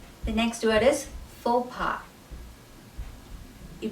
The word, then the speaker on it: faux pas: sounds like f o the u x at the end of it is not pronounced it's pronounced and the